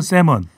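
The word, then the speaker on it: salmon: 영어로는 세먼. 네. 셀먼. 세먼. 셀먼이에요? 세먼이에요? 세먼 아니에요? L이 묵음 아닙니까? 묵음이죠. 네.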